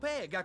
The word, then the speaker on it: Pegan: No, he said Pegan with a P, like Pancho!